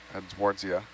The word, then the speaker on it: Edwardsia: sponge skeleton, probably something in the family of Edwardsia. That's how you pronounce it.